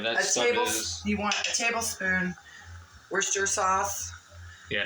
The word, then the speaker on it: Worcestershire: It's Worcester. It's Worcester. Not Worcestershire. Like, you know, all those crazy Americans say, we say, Worcestershire.